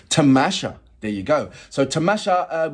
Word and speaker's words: Tamasha: no am I hold my P am I pronouncing that right me go into the uh translator tamasha tamasha there you go so tamasha with Mustafa zahid